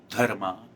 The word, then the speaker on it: dharma: that's what is important a lot about dharma and karma which i'm pronouncing it in a very traditional indian way of course um if